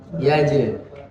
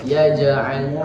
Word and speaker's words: يجعل: Kemudian perhatikan pengucapan ain itu harus berbeda dengan hamzah. Dia harus ditekan.